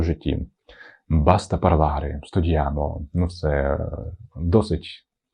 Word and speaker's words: basta: Ну і останнє слово баста. Баста сього і досвід на сьогодні. Баста. Наголос на першу букву баста.